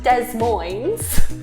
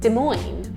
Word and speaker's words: Des Moines: It's not Des Moines, it's Des Moines. I like that one, Des Moines. Des Moines it's a nice name, It's isn't nice, it? yeah. Sounds better than Des Moines.